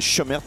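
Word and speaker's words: Cömert: se prononce comme ça, c'est écrit Comert, mais il nous a dit lui-même que ça se disait Chemert.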